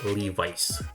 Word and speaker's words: Levi's: The stadium is named after the famous manufacturer of jeans whose name is pronounced Leh-vis in our country, but it should be Lee-vys.